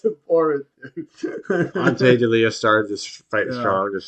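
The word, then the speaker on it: Ante Delija: Ante D'Elia. Yeah, Ante D'Elia.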